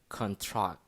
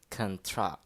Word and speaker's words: contract: a word for example the noun contract is pronounced contract and the verb to contract is pronounced cantra the second symbols are